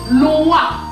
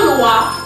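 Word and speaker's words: loi: But the white folks write it L-O-E, L-O-I. Their Loa is written L-O-I, our Loa is written L-O-A. Both are pronounced the same way.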